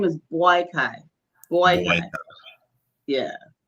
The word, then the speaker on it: Boakai: this his name is boyai boy yeah his name is boyai Joseph boyy so it's um I guess it would pronounced it was spelled b y k boyai all ftic I